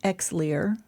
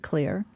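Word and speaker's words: Xlear: There are daytime sprays like it looks like exar. Um the Scandinavians pronounce it clear.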